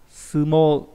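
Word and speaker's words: 相撲: Và đặc biệt trong cái chữ này, đúng không nhờ? Chữ chữ tương và chữ phác. Nó đọc là sumo, đúng không nhờ? Sumo là võ sumo của chúng ta ấy.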